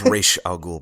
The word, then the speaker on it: Ra's al Ghul: why I feel better it's rishi al Ghul by the way they changed the name of Ra's al that his name is rachelle cool how they pronounce it ok did I just